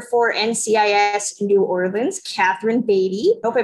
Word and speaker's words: Beattie: Next, we have the writer for NCIS New Orleans, Catherine Beatty. Hope I pronounced your last name right.